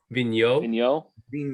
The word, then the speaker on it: Vigneault: Vigneault.